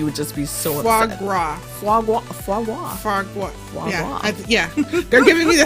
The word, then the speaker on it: foie gras: Foie gras.